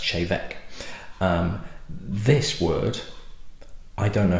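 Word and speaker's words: Té Bheag: They also do a blend, which looks as though it's pronounced teabag, but it's actually pronounced chevek.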